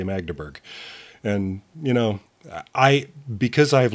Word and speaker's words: Magdeburg: Mandeberg Train? Magdeburg. Magdeburg. I always say it wrong.